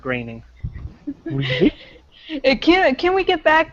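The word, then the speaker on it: Groening: groaning scening gr gring it's groaning isn't it no it's pronounced graining can can we get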